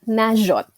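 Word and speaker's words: Nageotte: I think this is pronounced as Najot. So it is French.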